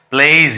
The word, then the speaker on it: plays: यदि कोई word vowel sound से एंड हो रहा है और उस साउंड के बाद एस लगा रहता है तो उसका प्रोनाउंसिएशन क्या होगा, ज होगा। जैसे देखिए PLAYS, प्लेज, यहाँ वाई का ई जैसे प्रोनाउंसिएशन हो रहा था, प्लेज हो गया।